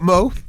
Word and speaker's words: M.O.E: So anyway, right, for anyone who's just tuned in, okay, I've got Mo, okay, or as it's spelled M.O.E.